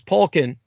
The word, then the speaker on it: Poliquin: Polkin's surname is spelled Poliquin, Poliquin.